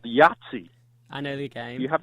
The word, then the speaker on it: Yahtzee: as a kid and he pronounced it yeah zzz and and I said excuse me mr. president I believe it's pronounced Yahtzee and he said that's